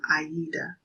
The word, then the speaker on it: Aida: Spelling would probably look something like Ada. You could have a name like that, Ada, but the pronunciation of it is Aida.